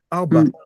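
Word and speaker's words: ארבע: L'autre est silencieux. Arba. Arba. Voilà, tu vois, deux syllabes.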